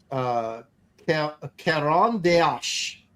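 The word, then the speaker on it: Caran d'Ache: new non-photo blue pencil, Caron d'Ache, or something like that. Yeah. Every time you say it different. Well, I don't know how to say it. It's Caran and then a little d apostrophe ACHE.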